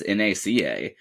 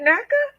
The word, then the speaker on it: NACA: is that back then they actually just pronounced as NACA they didn't even think of doing the they didn't call it naka yeah you would think